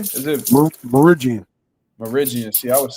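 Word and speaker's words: Mirigian: Meridian. See, I was saying it wrong. I was saying Meridian.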